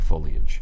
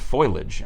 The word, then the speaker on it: foliage: to work with a DJ who could not pronounce the word foliage oh yeah well she called it foilage because she also spelled misspelled it she thought